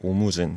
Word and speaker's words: 오무진: 그리고 영어로는 똑같이 오무진 써있고요. 일본어로도 발음이 똑같습니다.